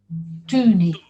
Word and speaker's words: Tuni: Can you Tuni. pronounce it again? Tuni. Tuni. No, not the two, but Tu. tu.